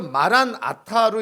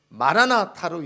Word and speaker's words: 마라나타: 그래서 마란 아타로 읽어도 되고 마라나타로 읽어도 되는 거예요.